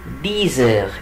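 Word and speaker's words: dix heures: طب العقرب جه على 10 يبقى الساعه 10 يبقى الي ديزر، الي ديزر. وبرده نفس الفكره 10 ديس بتنتهي باكس، لما يجي بعدها فاولز بنطقها زد، يبقى اقول ايه؟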